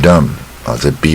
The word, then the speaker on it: dumb: Dumb 这个字也不难。She was born deaf and dumb 这 B 不发音。She was born deaf and dumb.